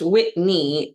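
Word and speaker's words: Whitni: It's Whitney spelled w h i t n i and then it's pronounced Whitney and then it says, "The i throws people off."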